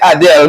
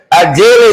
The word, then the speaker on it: Adele: Some people say Adele. We different. Adele, that's the right pronunciation.